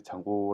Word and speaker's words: Django: 크다고 할 수 있습니다 5장 홀을 왜 장고 라고 발음을 하느냐 라고 5 뭐 이렇게 좀 숨소리를 할 수도 있는데 그 보시면은 기타리스트 입니다 저한테는 중요한데 여러분 앞에 어떤지